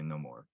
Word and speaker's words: Namor: that some people say Namor and some people say no more and that's fine but yeah and I'm